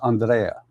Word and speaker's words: Andrea: It is in German. The correct pronunciation is Andrea. Andrea.